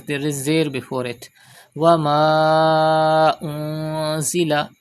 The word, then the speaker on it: وما أنزل: Wama unzila. You can see Hamza after Alif Madda in the next word. It is Madde Munfasil. You have to stretch up to 5 harkat.